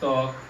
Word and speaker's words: ত্বক: শব্দের শুরুতে যদি বফলা থাকে তাহলে সেই বফলার উচ্চারণ হয় না। কেমন দেখুন তাহলে, যেমন এখানে রয়েছে কি স্বাদ, স্বাদ, এখানে রয়েছে ত্বক, স্বাস্থ্য, জ্বালা।